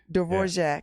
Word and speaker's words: Dvorak: Her works are compared to, how do you say this, Dvorak? Dvorak.